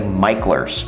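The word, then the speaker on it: Mickler: landing by the way it looks like it's pronounced MERS but it's actually micher so if you move here and you want to sound like a local definitely call it micher speech but anyway so to get there would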